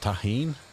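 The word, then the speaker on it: Tajín: It's pronounced taheen.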